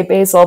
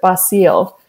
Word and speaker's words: Basil: And even with her grandfather, I say Basil, but I was just talking to Candy the other day and she pronounces it Basile.